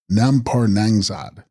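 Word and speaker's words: rnam-par snang-mdzad: And text, Renampar Snangmazad, pronounced Nampar Nangzad.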